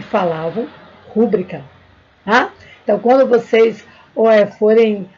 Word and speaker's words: rubrica: logo não vai cometer essa sílabada de rubrica e sim de rubrica pessoal vamos parar para